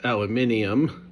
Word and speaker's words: aluminium: Um for my British friends it's pronounced aluminium.